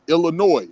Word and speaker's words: Illinois: We was part of that Illinois which is why the S is silent because the French pronounced all of their words with the S silent in in in their language.